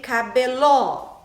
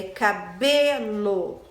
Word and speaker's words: cabelo: Não é cabelo e nem cabeló. É cabelo.